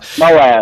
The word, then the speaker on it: Moab: Moab. Yeah. Moab.